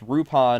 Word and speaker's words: Lupin: on the third which rupin is just the romaji pronunciation of Lupin it's our UPA n it's how they pronounce Lupin in Japanese but they typically in the u.s.